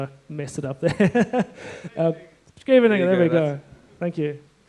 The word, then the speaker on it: Scheveningen: The Dutch guys are always quite impressed with my pronunciation, even though I messed it up there. Scheveningen, there we go.